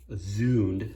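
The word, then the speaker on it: Zünd: At work we have a Zund, or Zund, that's the proper way to say it, Z-U with the 2 dots over it, ND, Swiss cutting device.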